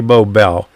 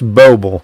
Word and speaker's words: Boble: Okay, I always say Bobel. That's Boble, huh? Okay, I always pronounce it wrong.